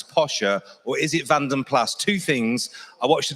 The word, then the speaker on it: Vanden Plas: I like to say Pla, but we're going to go over to Paul Cowland. He's going to tell you why I've been saying it wrong all my life. Well, it is a debate, isn't it, amongst all the BMC, Austin Rover, BL enthusiasts. Is it Vanden Pla, which the trade always used to say because it